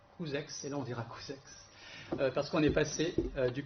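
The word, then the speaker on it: Couzeix: Et à 10 km de Saint-Thirier-la-Perche, il y a un village qui s'appelle Couzex, et là on dira Couzex, parce qu'on est passé du côté de l'Oï.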